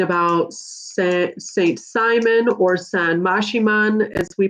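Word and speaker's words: Maximón: m-a-x-i m o n looks like maximum but we pronounce that mashiman are you guided to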